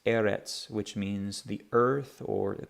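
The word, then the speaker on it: ארץ: the line still makes the same sound that TZ sound is in the word pizza this we see at the end of a word Eretz Eretz which means the earth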